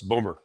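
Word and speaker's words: Bowmore: year i think it's bomber b.o.w.m.o.r.e which the scots pronounce boomer but clearly someone has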